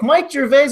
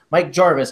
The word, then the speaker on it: Gervais: Mike Gervais, obviously. Jarvis, I keep mispronouncing your name. This is like on brand right here. Mike Jarvis, I'm sorry. It just looks like it's like Ricky Gervais.